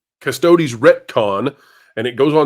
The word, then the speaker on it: Custodes: pronounce this next word is that custo custodes custodi is like custodian custodes custodes retcon and it goes